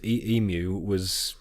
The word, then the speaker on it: Emu: You're just calling him Emu out of It's spite. it's spelled Emu.